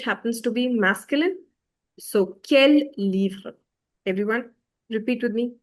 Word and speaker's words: quel: And the fun fact is, all of them are pronounced as quel. This is also quel, the first one.